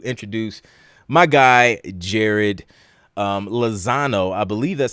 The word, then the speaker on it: Lezcano: it going thanks for having me on um lascano yeah okay man it's it's not an easy one to pronounce awesome well thank you man I appreciate